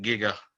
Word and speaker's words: giga: future and part outside i pronounce it giga as in like gigafrog so a 2g ev electron